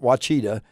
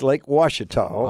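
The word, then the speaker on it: Ouachita: all you folks that look at that word and can't pronounce it, it's not Wachita. It's Lake Washita.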